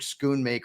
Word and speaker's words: Schoonmaker: I don't know about this Luke Schoonmaker or whatever the hell his name is. I don't even want to pronounce his name correctly, just to disrespect the